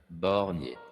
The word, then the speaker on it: Borgne: You listen to it Borgne. enough, it sounds like Barney.